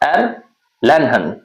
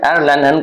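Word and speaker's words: Erlangen: कुछ था ऐसा करके, तो एर लैनहन, ठीक है, एर लैनहन करके बोलना है।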